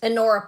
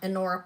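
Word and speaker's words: Honora: Um, these are Anora stretch bracelets. Yes. Yes. Anora pearls. H O N R O. H O N O R A. It's the H is silent. Anora pearls.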